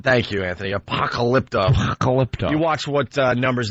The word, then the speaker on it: Apocalypto: Can't even pronounce it. Apocalypto. Thank you, Anthony. Apocalypto.